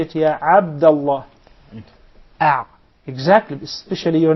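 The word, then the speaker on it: عبد الله: with the eyes okay what normally happens is it is mispronounced by non Arab speakers by saying app and this is how will they write it in English Double A okay but Christian the throat so they will come properly and remember it comes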